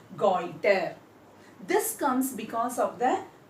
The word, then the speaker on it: goitre: of iodine leads to goiter, and the spelling Goitre, and the pronunciation is goiter.